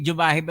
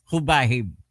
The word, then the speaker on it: Jubahib: del Norte gobernor Edwin hubahib hindi jubahib ang tawag diyan ang pagpronounce hubahib j b a h i b yan po ngayon